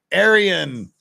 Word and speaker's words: Aran: correctly so this time she's like Aryan the vegetarian like the same Aran